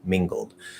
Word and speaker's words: mingled: kind of like um the l is going to be a half l and the g is going to sort of sound like it breaks off into that second syllable mean gold mingled um it could still